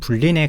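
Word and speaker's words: Boolean: 불은 영어로 이렇게 작성을 하고 원래 발음은 불린에 가깝습니다.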